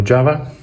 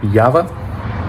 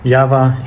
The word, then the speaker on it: Jawa: second episode for a Java or some people complained uh me pronouncing it wrong so yava uh yava AKA Cherry uh today's